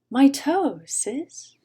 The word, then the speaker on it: mitosis: spell it for you it's what my 14 year old says when the 11 year old steps on his foot my toe sis i know it was